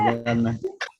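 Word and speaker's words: جنة: Jika wakaf, apakah suaranya tetap tak? Tidak. Jadi Tidak, berubah menjadi hak besar. Jannah gitu ya, jannah.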